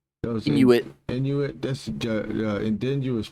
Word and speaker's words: Inuit: I mean, but the the in the how do you pronounce Inute? Inuit.